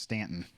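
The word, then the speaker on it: Staunton: that place then yes that town name is pronounced stanton for those of you they're like wait he's not saying that right no i'm saying it right according to them according to english grammar they're not saying it right but according to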